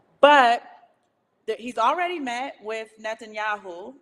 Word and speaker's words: Netanyahu: thank you I never say it right toast Netanyahu okay I said it right y'all be so